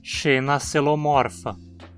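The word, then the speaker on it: Xenacoelomorpha: Então também dizemos xenacelomorfa. Lembre-se de que a sequência OE é pronunciada como um E, xenacelomorfa.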